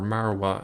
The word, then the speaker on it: Moriah: but over here is Mount Moriah or marawa as it's pronounced in Arabic over here we see